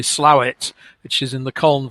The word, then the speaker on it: Slaithwaite: it's a place that's spelt Slaithwaite and pronounced locally Slowett, which is in the Colne Valley just west of Huddersfield.